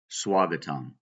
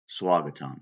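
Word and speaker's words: स्वागतम्: something so it's just swagatam swagatam spelled with a V pronounced with a W swagatam all right the next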